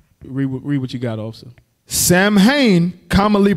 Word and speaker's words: Samhain: Samhain, commonly pronounced Samhain, with cow, means summer's end.